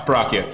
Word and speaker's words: Borachio: Spain is how you pronounce it. All right, it's Borachio.